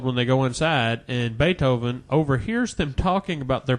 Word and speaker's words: Beethoven: Did you call him Beef Oven? Beethoven. That's how it's spelled.